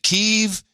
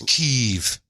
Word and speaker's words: Kyiv: But now it's like, no, it's Kyiv. We have a note from one of our producers that came in a few shows ago saying, hey, I live with a guy from Ukraine and he pronounced it Kiev, so it's got to be Kiev.